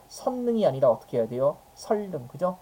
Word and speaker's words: 선릉: 시작하는 말이 왔을 때죠 지금 선 같은 경우는 니은 받침으로 끝나지만 이음절 한자가 아니잖아요 그래서 이럴 때는 적용해서 성능이 아니라 어떻게 해야 돼요 설능 그죠 자 기사님 설능